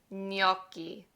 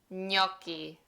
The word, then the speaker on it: gnocchi: Gnocchi. It's like instead of the GN, pretend it's an NY. Gnocchi.